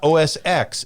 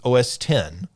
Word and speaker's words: OS X: It's not OS X, it's OS 10.